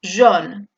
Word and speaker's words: jaune: Por lo tanto, joven sería jeune, E francesa, boca de O, pronunciando una E, y amarillo sería jaune, con una O.